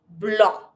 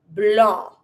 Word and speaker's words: blanc: Yellow, jaune, green, vert, black, noir, white, blanc. And I don't pronounce the C. Let's do it again. Rouge, bleu, jaune, vert, don't pronounce the T. Noir, blanc, don't pronounce the C.